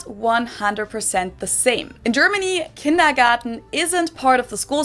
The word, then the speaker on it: Kindergarten: In German, we pronounce it kindergarten, and it literally means children's garden.